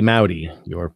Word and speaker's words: Maute: So the last name is spelled Maute. It's spelled like saute with an M, but it's pronounced like howdy with an M. So if you say howdy Maute, and it rhymes, you're pronouncing it correctly.